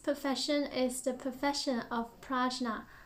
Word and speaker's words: prajñā: is the profession of prajna oh i think the sanskrit pronunciation is punya but i'll just stick to the english pronunciation for now which can be translated